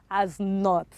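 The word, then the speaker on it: knot: is what knowledge the next one k-n-o-t is pronounced as what as not okay k-n-e-e is pronounced as your knee yes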